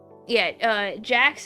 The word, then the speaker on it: Jakks: Yeah, Jax is spelled Jakks, and it's the third big doll company.